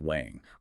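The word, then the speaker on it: 王: He analyzed the Chinese character for king, which is pronounced wang.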